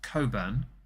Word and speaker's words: Cockburn: a bottle of uh it's spelled cockburn is pronounced Coburn the C and are apparently silent like subtle with the B and receipt with the p um uh he bought this Coburn from Tesco and I found it actually um